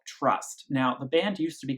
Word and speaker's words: TR/ST: to to tr /st it still is pronounced trust in interview so I'm going to